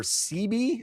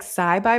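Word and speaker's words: Cyby: And he calls over CB. I'm gonna pronounce it CB. I was like Sci-Bi, but I thought CB too, just because it was cuter.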